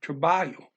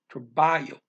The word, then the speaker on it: trabalho: Or just apenas in a meeting, em uma reunião de trabalho. Trabalho. Remember not to pronounce that L. LH is the same as a double L as in Spanish.